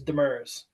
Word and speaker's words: Demers: I'll go with it's the correct pronunciation for us is Demers.